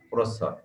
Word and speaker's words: প্রচ্ছদ: তাহলে এখানে প্রর পরে অ আছে, কিন্তু এই অটা ও এর মতো উচ্চারণ হয়, প্র যোগ সৎ, প্রচ্ছদ।